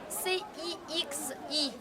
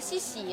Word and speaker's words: Cixi: On se prononce C-I-X-I comme Cixi. C'est pas Sissi, hein?